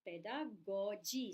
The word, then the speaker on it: pedagogy: Now this word is pronounced differently by different people. Basically, it is pedagogy. See the funniness of English language. One is G, one is J, but both are G, right?